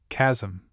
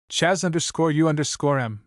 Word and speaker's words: chasm: The same treatment should be given to such words as chasm and enthusiasm. If the mouth is opened after the first part of the word is sounded, we have chaz_m and thus underscorem the